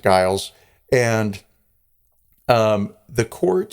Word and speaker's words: Giles: witches and so Guiles is accused or Giles but I I pronounce it Guiles and um the court